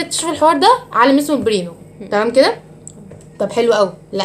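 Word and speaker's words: Pribnow: اسمه برينو. البي سايلنت ما بتتنطقش.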